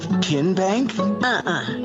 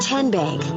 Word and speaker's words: TN Bank: arena in three minutes how do you say the name tn bank no tin bank so what is it ten bank ten as in tennessee right here where all